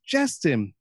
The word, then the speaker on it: Jestin: And she's like, "It's Jestin, but it's spelled Jestin, like Jesus, Jesus.